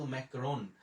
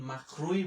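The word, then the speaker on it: Macron: এখন কিন্তু দীর্ঘ আট নয় বছরে কিন্তু আমরা তাকে ইমানুয়েল মাখরুই বলি। বাংলাদেশের কোন সংবাদ পাঠক বা পাঠিকাও কিন্তু তাকে ইমানুয়েল মাখরুই বলে। সেটাকে কিন্তু আমরা এখন আর ম্যাক্রন বলি না।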